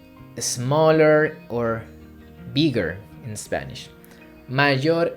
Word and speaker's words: mayor: Be careful with the pronunciation because sometimes we can confuse mayor, it's a strong pronunciation, with mejor, mayor, mejor.